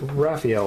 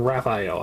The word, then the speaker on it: Raphael: paint and damn it i said i pronounce it raphael all the time but i keep saying wrap i o i don't know why